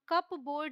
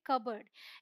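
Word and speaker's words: cupboard: है ये है कबर्ड हम कप बोर्ड नहीं बोलते क्या बोलते कबर्ड इसे हम बोलते हैं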